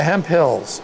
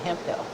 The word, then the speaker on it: Hemphill: Hemphills.